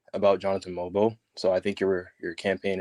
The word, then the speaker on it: Mogbo: For my campaign to actually work, are they calling him Mogbo or Mogbo? No, they said it right. They said Mobo.